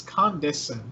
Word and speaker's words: Condescend: It's Condescend, not Condense. Condescend.